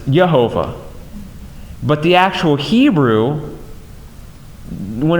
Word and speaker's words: Jehovah: And we hear that name a lot in our churches, some more than others, but Jehovah, which actually more accurately pronounces Yehovah.